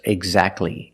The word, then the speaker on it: exactly: If you link the sounds, do not pronounce the T. Examples, exactly and Christmas.